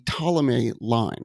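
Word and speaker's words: Ptolemy: direct descent of the té line that's the guy it starts with PT right exactly it's that silent P like that can trip you up a lot of people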